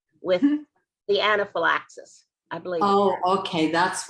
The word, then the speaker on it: anaphylaxis: You're saying the anaplasmosis. I'm not pronouncing it right. Is that correct? Anaphylaxis.